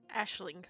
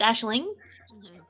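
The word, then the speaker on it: Aisling: A I S H L I N G. Ashling. You made it so weird. Ashling. Ashling. Oh, it's Ashling.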